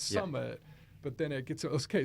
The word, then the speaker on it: SMMT: write this down but the brand is spelled s m t so it's Summit but then it gets